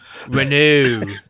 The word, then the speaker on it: Renault: the good thing is brian actually knows how to pronounce for now renew yes not a renault yeah there's not a sports renault uh it's a sports renew that's the only french